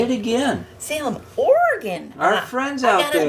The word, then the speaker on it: Oregon: say it again Salem Oregon our friends out got to make sure to say it like Oregon like like a like a Oregon and not Oregon I learned I had